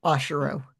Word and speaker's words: Oshiro: Ashiro.